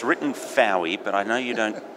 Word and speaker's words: Fowey: Philip de gray water here now it's written Fowey but I know you don't pronounce it it's for you it runs with boy as in the the